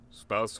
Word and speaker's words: spouse: Rhymes oh it does spouse rhymes with house I always pronounced it SPO in my head why is your language